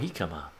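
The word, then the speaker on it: jicama: Oh, Hikama. That's how you pronounce it.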